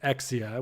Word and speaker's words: XEIA: And after some various iterations, we ended up um going by this name of EXIA, which is pronounced EXI or which is spelled XEIA.